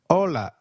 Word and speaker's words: hola: Hi is called hola in Spanish. Can you try that please? Hola. Did you get that right? Ola. Remember, H is always silent in Spanish. We do not pronounce it.